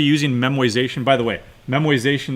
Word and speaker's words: memoization: And now when you're actually using memoization, by the way, memoization, that is not a misspelling, that is not a mispronunciation, that's what they call it.